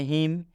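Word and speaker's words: hymn: में बता दे कि यदि एम के बाद एन आता है तो यह एन साइलेंट हो जाता है मतलब इस एन का उच्चारण नहीं करना है नही पढ़ना है हम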